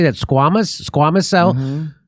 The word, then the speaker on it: squamous: Squamous cell? Mm-hmm. Squamous cell more serious than basal cell.